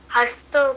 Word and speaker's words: हस्तौ: छंद पाद वेदस छंद पाद वेदस हस्तौ कल्पो कथते हस्तो कल्पोते हस्तो नहीं है हस्तौ है स्पष्ट बोलो हस्तौ हस्तौ